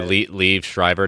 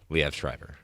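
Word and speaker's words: Liev Schreiber: he mentioned that that's actually how it's actually pronounced, but he's never corrected people when they like people say Le Shriber. No, it's Lev. Lev Shriber.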